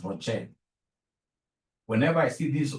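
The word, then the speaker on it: ROCE: whenever I see Rocher please don't pronounce this as Ros is my sister Ross is your mother professionally we pronounce this as Rocher whenever I see this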